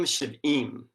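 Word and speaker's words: שִׁבְעִים: Now, this phrase 70 weeks in Hebrew is Shavuim Shiv'im. Now, these 2 words in Hebrew are spelled identically, but they are pronounced differently because of the vowels or the vowel pointing.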